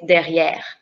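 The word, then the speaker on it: derrière: e in french is but because of this accent the sound of the e would be a that's why you say derriere which is behind in english luanda far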